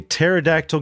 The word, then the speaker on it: pterodactyl: can't you hear a pterodactyl go to the bathroom because the p is silent and look this one's